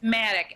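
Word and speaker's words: MADACC: It's Maddox.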